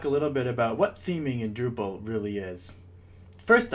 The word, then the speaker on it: theming: little bit about what theming in Drupal really is first off the word theming is pronounced kind of like scheming and spell just like